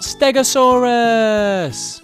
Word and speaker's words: stegosaurus: to learn all about stegosaurus how do you say that again stare go saw russ can you say it